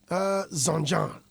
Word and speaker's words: Zonjon: See, I'm even finding it difficult to pronounce it. It could have been something very simple. Zonjon.